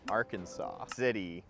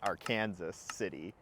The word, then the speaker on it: Arkansas City: are not in Oklahoma anymore we're actually in Arkansas City Kansas but it's not it's not pronounced like that it's pronounced Aransas City not to be confused with Kansas City Missouri